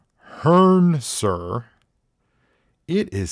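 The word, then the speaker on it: Hrncir: that's a guy that's a human name it's pronounced Hearn sir it is spelled HR n c i r are you that's a real name I Hearn hearer that's wild I'm yeah that is that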